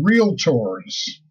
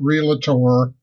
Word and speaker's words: Realtor: people my favorite people real tours and yes it's real tour two syllables is not real a tour like ninety-five percent of